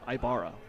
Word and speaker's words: Ibarra: ways yeah i am i'm actually confident that i pronounced it correctly because i asked the the mustang coach before the game there you go it is ibarra so be first in